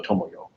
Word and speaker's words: Tomoyo: Yeah, and usually you pronounce each syllable the same length. So Tomoyo.